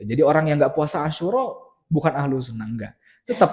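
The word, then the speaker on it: عاشوراء: Walamma su'ila an shaumi Asyura, cara baca Asyura itu syu-nya panjang. Asyura gitu, bukan Asyura, bukan.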